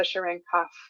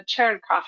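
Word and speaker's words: Cherenkov: you have to account for the sharena um the sorry I learned the proper pronunciation from a Russian last week from the cherof effect um so cherof light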